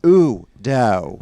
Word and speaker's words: Udo: And it's not oh No, it's ooh-do. It's like when some shit happens to you and you're like, Udo. Yeah, I mean, it's the equivalent of saying oh no.